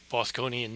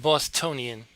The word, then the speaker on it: Bosconian: blocky but that's okay bosconian not bostonian they pronounce their r's